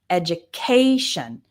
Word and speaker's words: education: When you see T-I-O-N or a similar one, S-I-O-N, the stress is always on the syllable immediately before.